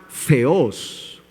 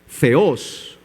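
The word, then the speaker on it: θεός: el nombre griego de Zeus con la palabra ceos Mira la diferencia zeos que es Dios una cosa es zeos y otra cosa es Zeus zeos y otra es Zeus una se escribe con z y la otra con z clase de griego elemental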